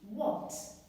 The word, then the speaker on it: walked: Become walked. But sometimes when we add ed to the verb, we hear t. But it still remains ed. We do not write t.